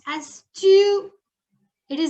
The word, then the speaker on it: tu: You is pronounced as tu.